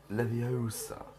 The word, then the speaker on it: Leviosa: Besides, you're saying it Wrong. It's Leviosa, not Leviosa. Leviosa. Not Leviosa. Wingardium Leviosa.